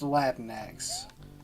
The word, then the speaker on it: Latinx: conversation about this earlier it's pronounced latinx which is incidentally my